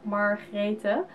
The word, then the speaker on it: Margrethe: It's the Dutch way I pronounce it right now, Margrethe. So instead of the G, it's more like a G. So that's how we name it in the Dutch language.